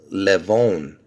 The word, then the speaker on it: Levon: I'm calling it see I would pronounce this levonne Levon because I'll tell you why because see Levon the meaning of the name means lion and where does it originate from from Armenian you see that I'm